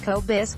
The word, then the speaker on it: Kobos: The birth of a side hustle since 2008, by day, Kobos, pronounced Kobos, has worked out of